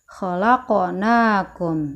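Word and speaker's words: خَلَقْنَاكُمْ: Pertama adalah qalqalah pada kalimat khalaqnakum, yaitu huruf qalqalah yang berupa huruf qaf yang berharokat sukun asli. Yang Bunda tandain merah ya, dibacanya mantul. Khalaqnakum.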